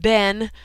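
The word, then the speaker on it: בן: That word people there is bane, and we pronounce it ben, but anyway, it's the same word as is translated children and is translated son.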